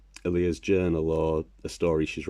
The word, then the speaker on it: Aaliyah: There's Alia's no, I said her name wrong, Aaliyah is how they say it in the show.